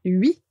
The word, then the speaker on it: huit: Pour 8, on va supprimer le T, donc ce sera 8.